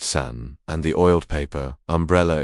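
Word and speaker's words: 伞: The character for umbrella is Sun-san, pronounced San, and the oiled paper umbrella is called Yoji-san, pronounced Yuzi-san.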